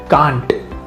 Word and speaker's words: can't: If the announcer cannot pronounce the t at the end of can't, the statement like the